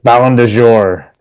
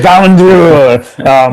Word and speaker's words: Ballon d'Or: Ballon de Jour, which I is how I pronounce it because it drives everybody in my family crazy. The Ballon d'Or.